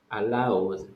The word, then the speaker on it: allowed: in the work hours pronunciation it is allowed allowed yes it's similar to uh fuerte allowed and this one allowed they have the same pronunciation yes good uh next